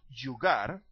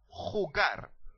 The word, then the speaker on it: jugar: a noun okay now you need to clear your throat because you need to make that sound when you pronounce the letter J in Spanish so is not jugar is hugar to play is not